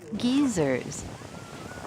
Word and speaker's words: geysers: it comes with warnings geysers are pronounced geezers the Icelandic word is